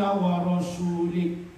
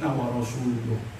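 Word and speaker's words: وَرَسُولُهُ: Padahal seharusnya bacanya Annallaha bari'um minal musyrikin wa rasuluh. Kenapa? Karena wa rasuluh itu diatofkan kepada mahalnya anna dengan lafzul jalalah fi mahalli raf'in, karena awalnya mubtada sebelum dimasuki oleh anna.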